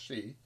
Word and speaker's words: Sidhe: So Banshee is another name for the Sidhe, which is Sidhe, pronounced she, which are essentially the underground elves, The fairy folk.